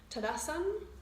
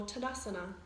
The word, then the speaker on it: Tadasana: instead of asana and the proper pronunciation of Sanskrit is to actually pronounce the a on the end hmm so that was